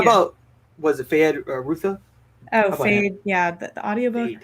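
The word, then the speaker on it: Feyd-Rautha: How about was it Fayed Rutha? Oh, Fade. Yeah, the audiobook said Fade Routha. Barry Cogan. Is that how you pronounce it?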